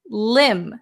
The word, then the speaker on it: limb: the next one is limb limb silent be a limb is very